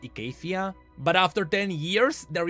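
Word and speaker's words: Icathia: right oh I know it is supposed to be pronounced Acacia but after 10 years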